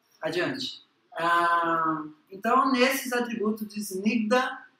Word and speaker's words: Snigdha: Ruksha e Snigdha. Snigdha. Tá? E sempre que tem um H, pessoal, esse som fica assim, ó.